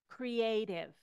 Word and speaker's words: creative: I say the word creative this T is pronounced like a d creative and it had the